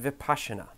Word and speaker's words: Vipassana: vocabulary lesson is for the Vipassana article it's pronounced Vipassana let's start with the word kidneys in the